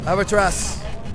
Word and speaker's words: Amaterasu: Amaterasu. Yeah, no, the U is silent.